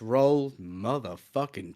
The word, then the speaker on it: Roald: at a stage where English people just say rolled cuz it that makes sense to us written down this is like uh